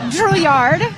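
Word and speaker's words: Drouillard: Julyard. And, how do you spell that?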